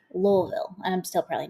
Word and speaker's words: Louisville: That's how we know that you're not supposed to say Louisville, right? It's supposed to be Louisville.